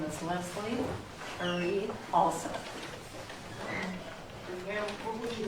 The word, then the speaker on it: Halseth: And for the record, our last name is pronounced Hall, H-A-L-L, Seth. And that's for the media because they say Hal, but it's Halseth.